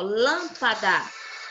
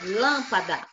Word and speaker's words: lâmpada: tia fala aqui ó lâmpada lâmpada preste atenção ó o dar é a última sílaba upa é a penúltima sílaba e o lan é a antepenúltima como ela tá acentuada então ela essa sílaba é a mais forte então ela é chamada de proparoxítona entendeu agora sim posso